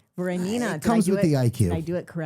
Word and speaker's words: Voronina: Voronina.